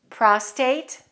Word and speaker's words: prostate: confused by native speakers the only difference between them is the extra r in one of the words listen to the pronunciation prostate prostrate you can see why